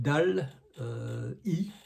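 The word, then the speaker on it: DALL·E: la même firme a un produit qui s'appelle dal i dal T e qu'on prononce en anglais dal I qui est un générateur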